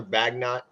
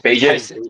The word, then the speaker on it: Bagent: Tyler Bagnut, Bagnut, Bagjit, Bagent. Tyson Bagent, Bagent. Tyson Rhymes with Bagent. agent.